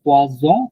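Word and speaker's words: poison: এই পোয়াসন এইটা, আরেকটা আছে পোয়াজন, একটা এস উচ্চারণ হচ্ছে পোয়াজন, এটা হচ্ছে পোয়াসন। পোয়াসন মানে মাছ, মাছ ফিশ। আর পোয়াজন মানে কিন্তু পয়জন।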